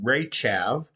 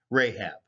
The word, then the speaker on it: Rahab: now as we mentioned rahab was probably in the hebrew ray chav but the local semitic pronunciation of that area probably had it closer to rahab the word means he